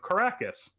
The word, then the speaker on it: Karrakis: It's literally Arrakis with a K at the beginning.